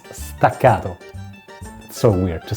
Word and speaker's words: staccato: They are stero or since this is an Italian word and I'm an Italian guy here is the correct pronunciation for you guys. It's stacato.